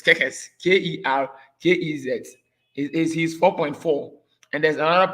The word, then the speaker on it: Kerkez: Now they have some other defenders, and by there's this player called Kekes. I don't know the pronunciation is Kekes. Kerkez.